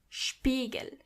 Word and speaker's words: Spiegel: When you see an S before a P, you have to automatically pronounce the S as sh, even if there is no C or H. The S is pronounced as sh as long as there is a P after it. For example, Spiegel.